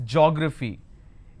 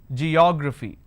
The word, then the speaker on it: geography: Like I said, do not pronounce this as geography. It's geography. So let's start. It starts with a j sound.